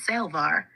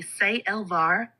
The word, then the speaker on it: Sael'Var: Commander Aleon, the name is Sael'Var, pronounced roughly Sael'Var with a light pause at the apostrophe.